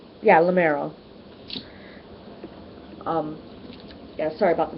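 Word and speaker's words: Limeros: Prince Magnus from lenos and or is it lero yeah lamero um yeah sorry about the mispronunciation I was thinking of aranos laros kind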